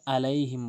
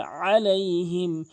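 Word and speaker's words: عليهم: ভুলটি করে সেটি হচ্ছে আলাইহিম বলে আইনের জায়গায় হামজা উচ্চারণ করে এখানে আলাইহিম বলতে হবে আলাইহিম আলাইহি অধ আলাইহিম বলে বলতে হবে আলাইহিম এখানে দত অবশ্যই আপনি চার আলিফ টেনে পড়বেন।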